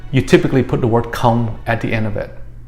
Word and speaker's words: không: And this last word, không, is pronounced again, không.